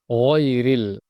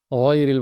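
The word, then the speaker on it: غَيْرِ: এই গইনটা খুব গভীর থেকে, গইনের মাখরাজ আমরা জানি, হলকের শেষ থেকে গইন খ, ওখান থেকে ডিপলি খুব গভীরভাবে উচ্চারণটা হবে গয়রিল, গয়রিল। এখানে গাইরিল অথবা গাইরিল বললে হবে না, গয়রিল বলতে হবে, বাংলা গরমুক্ত উচ্চারণ হবে না, গয়রিল।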